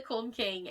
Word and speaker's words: Külmking: was American, so like, it's spelled K, and then it's the U with the two little dots above it, which I think it's Külmking. Yeah, and then LMKING. That's like a ooh noise.